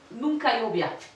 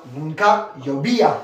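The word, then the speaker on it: nunca llovía: Ah j'arrive pardon je mets face Nunkaobia. Non nunka yobia. Ah oui nunka yobiya. Attention en espagnol on prononce toutes les lettres.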